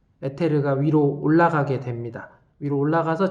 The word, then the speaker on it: 에테르: 이 안에 들어있는 용액의 이름은 우리나라에서 옛날에는 에테르라고 불렀고, 에테르는 너무 이제 약간 일본식 발음 뭐 이런 거라서 선생님 대학교에서 배울 때는 이서라고 배웠고, 검색해보면 에터 이렇게 나옵니다.